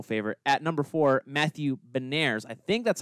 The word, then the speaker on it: Beniers: with my personal favorite at number four, Matthew Beniers. I think that's how you pronounce it. It's Beniers, yeah.